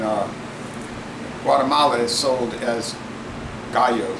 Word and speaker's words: Gallo: guala is sold as Gallo it's real name is Gallo which means chicken yeah rooster means rooster and uh but Gallo is spelled g a l l o which is Gallow they can't compete you